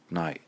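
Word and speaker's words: nó: Now, the word or in Irish is no. N-O fara. No.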